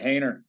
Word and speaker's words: Hayner: good morning okay sure why do we pronounce your last name hayner or holy or how do we pronounce it you got it hayner there you go see you know